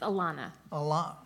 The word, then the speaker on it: Ilona: It's Ilona. Why I'll take is it- anything close. There's an O, not an A.